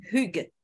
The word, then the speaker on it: Hygge: Está pronunciada con acento cibaeño. Se llama Hygge.